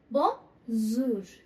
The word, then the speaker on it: bonjour: हम लिखेंगे BONJOUR पर प्रोनाउंसिएशन क्या आएगी, बोंजूर. ज की साउंड आएगी, जे की साउंड नहीं आएगी.